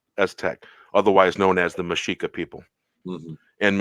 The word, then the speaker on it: Mexica: Of the 12 tribes of the Aztec, otherwise known as the Mexica people. And Mexica is the real pronunciation of Mexico. With an A.